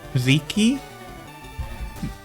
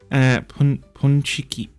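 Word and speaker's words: pączki: Oh, did you ever get Paziki? I'd have to Google that. Let me do a quick Google. You know, it's I mispronounced. That's crazy. Pronounced. Okay. Ponchiki.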